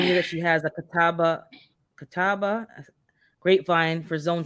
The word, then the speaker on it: Catawba: about is that a seedless a grapevine yeah Catawba as that's how you pronounce it okay let me screenshot this because